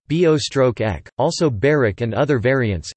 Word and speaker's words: Börek: Börek Turkish pronunciation, bo-ek, also byrek and other